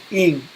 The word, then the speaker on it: Ingres: Okay, Ingres. Some artists they pronounce is eng.